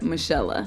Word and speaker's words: Monique: Michelle.